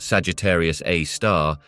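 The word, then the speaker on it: Sagittarius A*: the Milky Way known as Sagittarius A asterisk pronounced Sagittarius A star is a subject of intense study and Fascination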